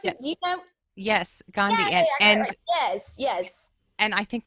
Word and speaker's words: Gandhi: pronounce his name wrong isn't that how I pronounce it do you know yes gandi yes yes and I think this is really